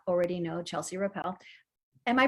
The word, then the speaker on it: Rappel: chelsea if you do not already know chelsea rappel am i pronouncing your last name correctly that was perfect